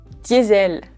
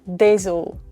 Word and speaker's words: Diesel: Connaissez-vous la marque Diesel? Oui, Diesel. En anglais, on dit normalement Diesel, Diesel. Mais nous, en français, on prononce ça Diesel. Je pense que pour les Français, c'est très difficile à prononcer. Donc, on a décidé de dire Diesel.